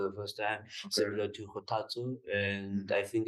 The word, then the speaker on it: Kgothatso: Kgothatso. Kgothatso. Kgothatso. Yes. And I see people call you, but yeah, Kgothatso.